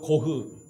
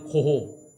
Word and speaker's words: 고흐: 반 고흐를 아실 겁니다 고흐 독일어 발음으로 고흐 우리가 그냥 학교에서 배운 거는 고호 고흐는요 원래 목사를 지망했던